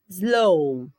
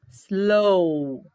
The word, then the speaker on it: slow: Slow. Ouçam. Slow. Você tem até o som do L, o som do O, só que o W não tem som.